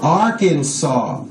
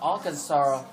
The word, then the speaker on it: Arkansas: one Alaska right Arizona Arkansas the final s is silent I said Arkansas the s silent California